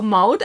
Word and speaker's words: Maud: She told me like loud, but with M. So Maud, I guess that's how you say that.